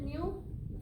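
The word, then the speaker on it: ν: This is it's called pronounced as new.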